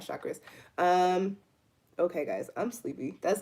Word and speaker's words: chakras: It's chakras, not chakras.